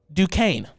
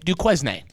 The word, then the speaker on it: Duquesne: BYU and Duquesne, or some may say Duquesne. This is my However you want to pronounce it.